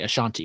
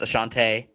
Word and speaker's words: Ashante: I keep wanting to say Ashanti, but it's not Well, Ashanti. I know it has two E's, but it's pronounced Ashante.